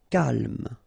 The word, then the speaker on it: calme: Calme. So don't insist on the final E. Calme.